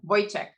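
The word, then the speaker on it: Vojtěch: It's not a ch, it's a ch. It's a yeah, it's a Vojtec.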